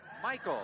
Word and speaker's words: Michael: Michael, that's pronounced. In case you're worried about the Yugoslav pronunciation, we don't worry about it. He calls it Michael, so we will too.